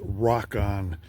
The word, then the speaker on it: Rokon: searching out rockon and a lot of people call it Ron well that's fine but uh the original intent was to have it pronounce rockon that has to do with rocks well I got 540